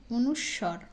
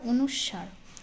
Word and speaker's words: অনুস্বার: অনুস্বর এবং অনুস্বার এই এটার কিন্তু দুটো সাউন্ড একটা একটা হচ্ছে অনুস্বর একটা হচ্ছে অনুস্বার দুটো উচ্চারণ দুইটাই কিন্তু সঠিক যদি অনুস্বর বলেন তাও সঠিক যদি অনুস্বার বলেন সেটাও সঠিক বিসর্গ চন্দ্রবিন্দু ব্যঞ্জন বর্ণটা